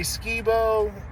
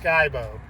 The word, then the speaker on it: Skibo: a lot people say Skibo it's pronounced skybo I know the way it's spelled SK i b o it looks like Skibo but it's pronounced sky and like the blue